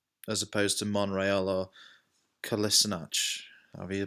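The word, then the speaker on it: Kolašinac: Rose as well as opposed to Montreal or Calissa notch are you pronounce it Collison hutch so free Tottenham player so far centre back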